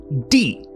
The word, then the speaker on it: 地: So this character is pronounced D.